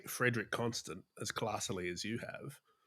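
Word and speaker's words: Frédérique Constant: I was like Frederic Constant.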